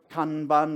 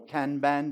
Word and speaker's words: Kanban: you get methods like can burn or Kanban depending on how you like to pronounce it to manage work which